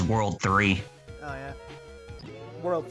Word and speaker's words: WWW: Bad Gamer says the WWW is supposed to be pronounced as World 3, Oh yeah.